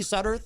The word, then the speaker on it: Sudderth: Am I saying it correctly, Sudderth? Yeah, absolutely, Sudderth, yes.